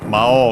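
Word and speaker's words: 魔王: It's worth mentioning that the accent of Mao is actually on the O.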